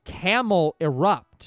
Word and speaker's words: Camerupt: Well, it's Camel Erupt, Mr. B. There There cannot be another pronunciation. Like this name is the one of the most simple merger names possible. Portmanteau. Yeah, it's a portmanteau.